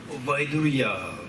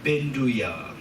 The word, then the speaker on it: Vaidurya: Vaidurya, in Tibetan we read it as Benduya. Benduya, Sanskrit is Vaidurya. Benduya, in Tibetan we read it as Benduya. It's wrong, the pronunciation. But the Tibetans read like Benduya.